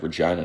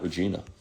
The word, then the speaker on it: Regina: Love the uh the Saskatchewan and I believe I pronounced it right. Regina, not Regina.